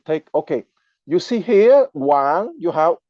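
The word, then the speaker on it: 王: So, I would like to keep on my presentation with explaining the character Wang, W-A-N-G, pronounced at the second tone, which is the Chinese word for king.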